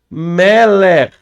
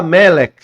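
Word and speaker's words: מלך: Tem algumas pessoas que fala melec, melec, mas e termina com um k só. Mas o correto não é k, tá?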